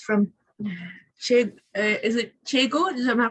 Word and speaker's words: Tejo: It's from is it Chego? Am I pronouncing it correctly? Yes, you are. Tejo.